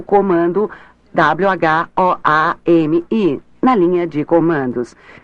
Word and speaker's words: WHOAMI: Uma maneira rápida de determinar quem está conectado à rede é digitar o comando WHOAMI na linha de comandos. Este comando é fácil de lembrar, pois é pronunciado como Who I Am, quem sou eu, em inglês.